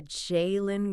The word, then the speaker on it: Jalen: And for anyone keeping track of the pronunciation, that is J-A-Y-Lin Green. The Jalen Green Experience.